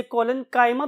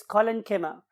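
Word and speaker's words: collenchyma: बहुत से और प्रोनाउंसिएशंस भी अवेलेबल है, खासतौर पे हमारे इस कॉन्टिनेंट के पार्ट में, तो बहुत से लोग इसे कोलेन्काइमा भी बोलते हैं, बट the true pronunciation is कोलेन्किमा एंड पेरेन्किमा।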